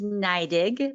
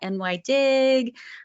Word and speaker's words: NYDIG: our companies so as paul mentioned it is pronounced naidig we get a lot of questions about that ny dig um new york dig um but it's naidig and that really kind of harkens back to